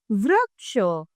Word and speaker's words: वृक्ष: उच्चारण क्या होगा? वृक्ष वृक्ष।